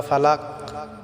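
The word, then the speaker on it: فلق: আমার চলুন আজকে সূরা ফালাক সহি শুদ্ধ করে আমরা পড়ে নেই আউজুবিল্লাহি মিনাশ শাইতানির রাজিম বিসমিল্লাহির রাহমানির রাহিম আউজুবি রব্বিল ফালাক প্রিয় বন্ধুরা আমার এখানে বড় কাফ আমাদেরকে উচ্চারণ করতে হবে এটা আমাদেরকে আইন গলায়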